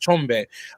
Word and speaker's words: Tshombe: first tell you that you pronounce my name how it's how it's phonetically supposed to be pronounced chombe my teacher uh voice